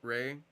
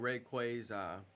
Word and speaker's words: Rayquaza: I thought Rayquaza's name was pronounced Rayquaza, but in the anime it's pronounced Rayquaza.